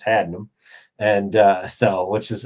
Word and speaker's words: Haddenham: It's not had in ham, it's hadum.